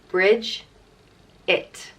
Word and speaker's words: Bridget: means power strength vigor and virtue and it's pronounced bridge it bridges bridges was the goddess of poetry back